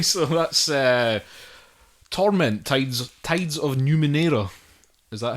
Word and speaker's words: Numenera: Okay, so that's Torment, Tides of Numenera. Is that how you pronounce that?